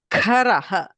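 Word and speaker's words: खर: Say Karaha. If I have K, it means a hand. Whereas Kharaha, the same place, if I use a Mahaprana Kha, it means a donkey.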